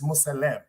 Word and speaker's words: Muslim: thing listen listen listen Muslim is not even pronounced the way it's right because we're saying it fast the word is Muslim that means a man or